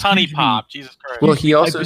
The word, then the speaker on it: HuniePop: knows honey pop well no it's just called pronouncing the word right who knew poop it's honey pop well he also says melee melee whatever is